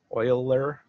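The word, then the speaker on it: Euler: angles spelled e e u l e r pronounced Oiler uh and that's very easy for us humans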